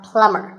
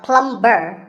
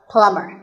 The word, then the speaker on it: plumber: you call him a plumber not a plum burr the bee is silent so plumber in fact in many words when you have the letter combination mv the b is silent if i had a